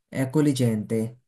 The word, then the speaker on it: accogliente: জির উচ্চারণ হবে না, এখানে যে আমরা জি এল ই থাকলে কি হবে লি, accogliente, accogliente এভাবে উচ্চারণ করে, তাহলে এটা কি হবে,